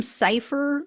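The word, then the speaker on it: Cyfir: And if the name Cipher sounds familiar, I'll remind you it's spelled C-Y-F-I-R.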